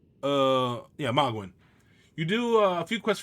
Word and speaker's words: Mogwyn: But what you want is, we are at the teleportation area of Mogwyn's Temple, I believe.